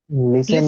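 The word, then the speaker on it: listen: লিসেন লিসেন লিসেন লিসেন লিসেন লিসেন না টি টা silent ওখানে টি উচ্চারণ হবে না লিসেন লিসেন লিসেন লিসেন তারপরে দেখ লার্ন রয়েছেন।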